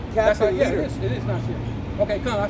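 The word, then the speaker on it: נשיא: it is Nasir. Okay, come on, I said it right. It's Nasir.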